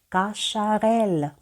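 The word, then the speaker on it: Cacharel: ще одне слово прочитаємо каша райля каша Реля Ви також знаєте цю назву Подивіться ми бачимо літеру с яка читається як СН яке читається як ш і літеру Еля як ми читаємо як ля каша Реля також Зверніть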